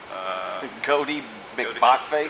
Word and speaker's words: Goaty McBockface: It's Goaty, like goat, goes Bach.